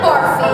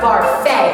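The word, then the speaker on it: Barfée: be returning after last year's tragic setback William barfy it's pronounced Bara there's an accent a I don't know who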